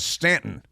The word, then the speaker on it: Staunton: there's a town called Stanton. It's spelled Staunton, but it's pronounced Stanton. And it's where the racist, segregationist, progressive Democrat President Woodrow Wilson hailed from. And it's a great town, too, Stanton, Virginia.